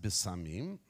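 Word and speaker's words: בשמים: have the word there in Hebrew okay it's pronounced bisamim okay my little cute little imagery there and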